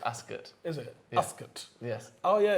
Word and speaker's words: Ascot: it royal ascot dark it's actually pronounced ask it is it yes oh